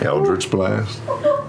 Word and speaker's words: Eldritch Blast: Eldritch Blast.